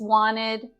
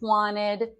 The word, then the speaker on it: wanted: how you're doing okay so I want to draw your attention to the t's in just and wanted so I didn't actually pronounce the t's in either of these words I just wanted I just wanted just